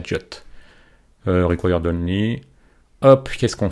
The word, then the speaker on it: JWT: sur jot ao JWT souvent les anglophones il prononcent ça jot REC don hop qu'est-ce